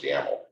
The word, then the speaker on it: YAML: Both of those are pronounced YAML, whether it has the A or not.